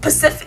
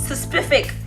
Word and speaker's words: specific: Is it specific or Pacific? Damn it! No, it's specific.